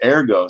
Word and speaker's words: ergo: ero ero ero eroo that's the Latin way you say Yeah in fact the right way say it Latin wise is ergo so this guy you